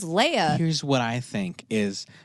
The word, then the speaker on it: Leia: like why is everyone calling her Leah like I thought it was Leia here's what I think